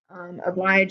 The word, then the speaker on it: oblige: Oblige is pronounced with a long E sound, where it sounds like a bleach.